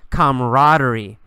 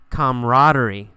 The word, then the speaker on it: camaraderie: we see the word camaraderie camaraderie you really don't pronounce that second a we usually say camaraderie camaraderie camaraderie is a feeling